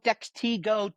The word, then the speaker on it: Dextego: Dextego, depending on the day of the week, you can pronounce it every way you'd like. It is a combination of dexterity and ego.